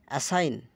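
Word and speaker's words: assign: উদ্ভাবন ভবন করা এজিন এসাইন এসাইন আইজিএন এর উচ্চারণ হচ্ছে আইন এসাইন দায়িত্ব গ্রহণ করা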